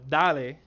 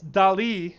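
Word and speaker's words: DALL-E: but call it uh daley and i know i know that the guys definitely don't pronounce it that way it's uh it's dali as in you know the famous artist salvador dali but i'm gonna i'm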